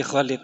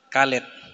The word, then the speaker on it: Khalid: Si Khalid ini Kalid. Kalid ya. Bukan Khalid ya bacanya itu Khalid gitu. Bahasa Arab itu bukan kalid. Meskipun tulisannya Khalid tapi bacaannya Khalid.